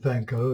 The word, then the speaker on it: van Gogh: and go and go the dutch pronounce it van gogh and he was dutch so that's respect his name now i think i'll